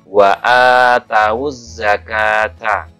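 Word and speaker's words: وَآتَوُا الزَّكَاةَ: Wa atawuz zakata. Wa atawuz zakata. Nah, bukan kita baca wa atuz zakata, bukan.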